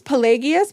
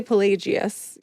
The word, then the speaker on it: Pelagius: And his intellectual adversary was, how do you say I think it's Pelagius, but some people say Pelagius. So Pelagius was coming at from it from the opposite point of view.